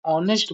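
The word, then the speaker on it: honest: Amit Amit is dash ऑनेस्ट बॉय देखो यहां प देखो अमित इ dash ऑनेस्ट बॉय ऑनेस्ट ऑनेस्ट बच्चों देखो ऑनेस्ट ऑनेस्ट कंफ्यूजन मत होना वो ओ आया सेकंड एच साइलेंट है सिंपल सी बात है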